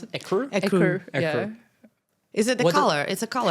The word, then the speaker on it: Écru: How do you pronounce it? Écru? Écru.